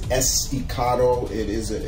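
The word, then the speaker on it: Estacado: of people that were saying his name wrong but it is esticado it is a it's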